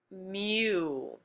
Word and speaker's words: mu: room the friction force is this guy it's pronounced mu that's what how it's pronounced this is called